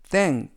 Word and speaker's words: thank: 약간의 차이가 있습니다 그리고 발음 하실때 th 는 번데기 발음으로 윗니와 아랫니 로 혀를 살짝 무신 다음에 빼면서 뜻 땡 그리고 아프리 쉐이 라고